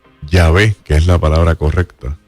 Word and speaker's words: Yahvé: V, no se dice Yahweh, se escribe YHWH, porque esa W es una letra en hebreo que se llama Vau, y se escribe W pero se pronuncia V.